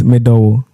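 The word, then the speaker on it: Me dɔ wo: So it's medowo. Medowo? Yeah. You see, it's even easy to pronounce.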